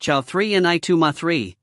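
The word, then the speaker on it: 草泥马: this play get produced grass mud horses is pronounced chia3 and I 2 ma3 used as a substitute for Chia 4 and I3 ma one which means F asterisk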